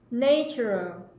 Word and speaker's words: nature: thuộc thiên nhiên này, cái âm đầu tiên đọc là A bẹt hay là âm A ạ? Nature. Có đúng không? Chắc lại đang gật gù gì. Cô nói sai đấy. Cái này là nature.